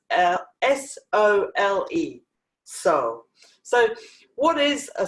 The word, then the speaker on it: sole: we're making Himalayan soul now I call it soul it's actually supposed to be pronounced soul a but this it's sol é só so what is a soul a soul